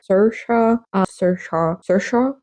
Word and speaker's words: Saoirse: So yeah, I think the last time we spoke, I just talked randomly about Saoirse, Sorge. It's still hard for me to say her name. Sorge.